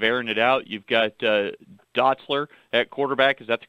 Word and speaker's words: Dotzler: in terms of airing it out you've got Dotzler at quarterback is that the correct pronunciation coach yep Jack Dotzler Boyd 23 touchdowns